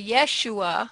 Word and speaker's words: Yahshua: Now, is that pronounced Yahshua or Yeshua? Yahshua. I've heard it pronounced more than one way. Well, I've heard people say Yeshua.